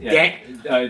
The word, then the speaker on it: Dahm: How did Now, mind you, um, your last name, how do you pronounce it? Dan.